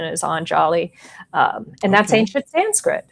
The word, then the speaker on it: Anjali: Um and Angelia incidentally hails from anali which is um or anjali um I I you know I have no no preference. Um my understanding is the original pronunciation is anjali.